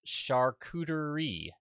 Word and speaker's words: charcuterie: It's pronounced charcuterie.